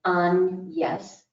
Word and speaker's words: Agnes: he left his daughter named in his will on yes the french pronunciation a very generous dowry